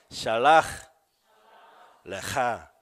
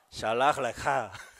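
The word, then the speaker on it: שְׁלַח־לְךָ: 발음을 내려니까. 자, 따라 보겠습니다. 샬라흐 레카. 샬라흐 레카.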